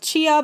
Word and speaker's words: Tchia: Then there was this really cute game shown off for what I believe is the first time called Chia, but it's spelled Tchia.